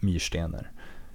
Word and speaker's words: Myrstener: The text is written by Peter Englund and Helena Myrstener. Well, I should probably say that as it's pronounced in Swedish. The text is written by Peter Englund and Helena Myrstener.